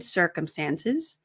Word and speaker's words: circumstances: for not unfor unforeseen circumstances so the C the first C sounds like an S circumstances we had to